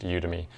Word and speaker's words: Udemy: People pronounce it differently. I hear it all kinds of ways, but I think it's pronounced Udemy.